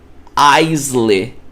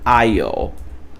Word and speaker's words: aisle: Aí você vai pronunciar como Aisley. Aisley, olha só, minha mente tá no português, Aisley. Só que olha só, você não pronuncia dessa forma. Aqui, ó, você vai pronunciar como Isle.